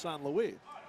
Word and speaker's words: St. Louis: Of course, Stefan's last name is spelled St. Louis, but it's pronounced San Luis.